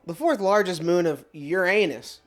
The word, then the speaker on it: Uranus: fourth largest moon of Uranus sometimes pronounced Uranus by those astronomy nerds discovered in October 1851